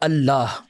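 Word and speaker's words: الله: अब उसमें लाम साइलेंट हो जाता है तो बन जाता है अल्लाह।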